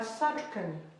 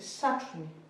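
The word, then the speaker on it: satrony: Le K, il tombe, c'est pas Sachukani. D'accord? C'est Sachuni.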